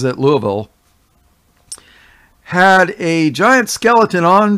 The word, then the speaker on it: Louisville: The Museum of Science in what they call Louisville, Kentucky, spelled Louisville, but everybody pronounces it Louisville, had a giant skeleton on display, and then it's been removed.